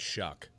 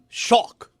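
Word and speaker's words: Shough: How do you pronounce that, Shuck? I don't get it. Shock. Doesn't look like Shuck. It should be Shaw. Shock. Tyler Shock.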